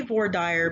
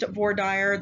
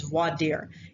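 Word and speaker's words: voir dire: listen to what's called vordyre now i say war dyer because i'm in texas um it's actually not pronounced vordyre the correct pronunciation is vadir and it means to speak the truth and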